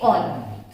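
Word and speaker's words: -one: तो ऑन, वैसे तो वन लगता है नहीं, स्पेलिंग वन, बट वन नहीं है, क्या है ये? ऑन।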